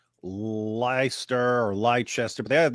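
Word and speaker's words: Leicester: It's probably Lester and you're like there's there's too many le there's too many letters for that to be Lester. Lester. That's it. It's Lester.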